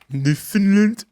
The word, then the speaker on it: Newfoundland: Newfoundland. Yeah, but that's how it's pronounced.